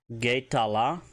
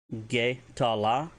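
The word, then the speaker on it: ge'tala: If you want to say red, Getala, Getala, which is red, G-E Beton, T-A-L-A.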